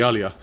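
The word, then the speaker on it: Djalia: Hall of the Is that a J the Jalia or is it It becomes a Y. Yeah, the Alia.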